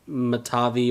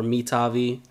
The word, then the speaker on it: Mitavi: So the way I've been pronouncing it is like Matavi or Mitavi.